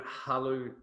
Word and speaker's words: Hullo: So now you have started your own agency called Hullo. How do you pronounce it? Hello. Hullo. Hello.